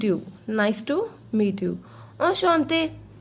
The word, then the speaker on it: enchanté: Enchanté. This EN in French gives the sound of on.